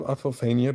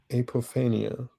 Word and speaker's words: apophenia: But so have you heard of apophenia before? say that again. I think it's pronounced apophenia.